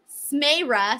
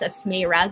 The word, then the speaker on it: Smera: my gosh and uh smera says btw my name is pronounced asmera guys i'm so sorry